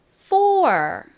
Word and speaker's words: four: 한국식으로는 포라고 하지만 이 OUR이 OR 소리가 나기 때문에 실제 미국식 발음은 four 이렇게 발음이 납니다. 좀 세게 쌍비읍처럼 four 이렇게요.